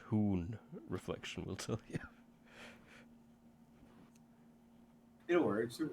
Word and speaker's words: Huns: It's pronounced Hoon.